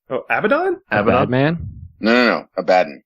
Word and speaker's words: Abaddon: Abaddon is the correct pronunciation. That's how Yeah, Games Workshop pronounces it.